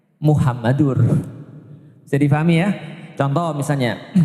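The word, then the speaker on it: محمد: Kenapa Muhammadar? Karena ada anna, ashadu anna muhammadar rasulullah. Kalau tidak ada anna berarti bacanya Muhammadur.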